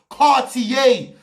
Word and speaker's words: Cartier: Are you telling me you don't know how to pronounce Cartier? It's actually a very famous brand. Cartier.